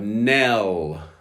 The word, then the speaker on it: knell: 45, knell. The K is silent.